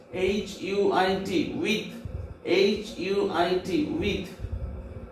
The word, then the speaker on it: huit: and French but the pronunciation is C's SIX pronunciation C's 7 SEPT SAT SEPT SAT 8 HUIT with HUIT with 9 NEUF NAF 9 NEUF NAF and 10 DIX this.